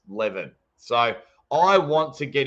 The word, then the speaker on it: Levan: I am trying to get Levan. I think it sounds weird because I keep saying Levan, and I think it's pronounced Levin.